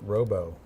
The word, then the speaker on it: Robo: says his last name is pronounced Robo. Robo, okay.